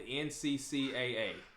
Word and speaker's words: NCCAA: So, that organization is called the NCCAA. Now, that is not, me mispronouncing NCAA. There is an extra C in there.